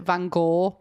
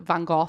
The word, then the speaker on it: Van Gogh: I know that Americans pronounce it Van Gogh. In the UK, we pronounce it Van Gogh, so it works.